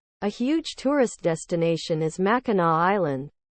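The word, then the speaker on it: Mackinac: huge tourist destination is MAA Island but the last C is pronounced as a w Sue St Marie is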